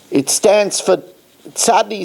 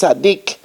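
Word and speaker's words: צדיק: So at least that acronym points that it should be pronounced tzaddik and not tzadi.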